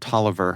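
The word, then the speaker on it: Taliaferro: When I was a student at the University of Maryland, there was a building there called Toiver Hall, and it's spelled Talio Faroh, and that was how you knew the freshman on campus.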